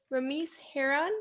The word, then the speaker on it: Ramese Hearon: My name is Francesca and I'm the founder of Inspiring My Generation and today I'm here with Ramiz Heron. Did I pronounce that right?